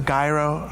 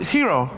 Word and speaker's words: gyro: But it's so funny because people pronounce it in the weirdest ways, a gyro, a gyro. I literally, before I even came into the show and reading this, I was like, why are we making gyros or gyros? Like, Gyro. Yeah. Gyro. But I pronounce it hero. That's how I've always known it.